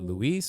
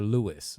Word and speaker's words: Luis: Because I remember when Luis came into this project initially, I was like, is it Luis or Louis? And he was like, it's Luis, bro.